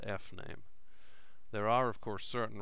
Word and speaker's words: fname: And fname is a string in which we are going to store the user's first name.